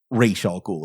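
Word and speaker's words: Ra's al Ghul: I would rank this as one of my all-time favorite Batman stories, where Denny really gets into the background of Raysh Al Ghul, as he pronounced it.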